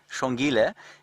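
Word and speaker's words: Xongile: course being utterly fous the names are spelled Shila is spelled x o n g i l e and the male or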